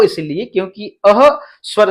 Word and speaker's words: अः: तो इस प्रकार से आप यहां पे अह बोलेंगे, क्या बोलेंगे, अह, आहा मत बोलिएगा, आहा बोलेंगे तो फिर गड़बड़ हो जाएगा।